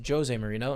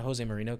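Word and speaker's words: José Mourinho: my the new manager of Tottenham Hotspur is pronounced josie marino and not jose moreno cuz he's portuguese so get roasted bro get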